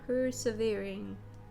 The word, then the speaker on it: persevering: It's gonna be like short. Short and snippy. No, it's actually pronounced with a long E. Persevering.